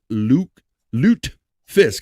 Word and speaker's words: lutefisk: Despite its taste and smell, many diehard Scandinavians still eat lutefisk. I'm trying to say it right. I'm trying to say Luke, not Luke. Lutefisk.